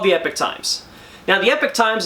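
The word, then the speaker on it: Epoch Times: epic times now the epic times is spelled like this but it's supposed to sound like this the epic time you see it's a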